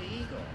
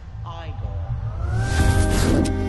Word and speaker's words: Igor: like I've been feeling right you must be eag now it's pronounced igore they told me it was e and even